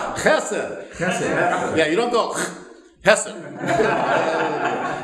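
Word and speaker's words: חֶסֶד: Now, you don't clear your throat and then say the word. It's all one. Chesed.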